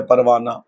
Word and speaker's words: پروانہ: ہائے مختفی کہتے ہیں۔ جیسے کہ لفظ ہے پروانہ، ایک لفظ ہے زمانہ، تو جتنی لفظ ہے یہ جو لفظ ہے وہ لفظ لکھا ہا تو لکھی جاتی ہے لیکن وہ ہا پڑھی نہیں جاتی۔ اگر ہا لکھی بھی